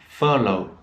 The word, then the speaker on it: furlough: especially so donut and there are many other words which are pronounced with the same sound with o-u-g-h um though although and a very common word at the moment unfortunately in the in the pandemic is furlough and follow in normal